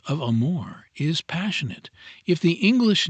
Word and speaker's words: amore: Amore. You fairly sing the second syllable in a baritone voice from the chest with a little throaty tremolo on the surface to make it sound more palpitating.